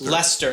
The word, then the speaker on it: Leicester: There's a city called "Leicester," - but they just pronounce it "Lester."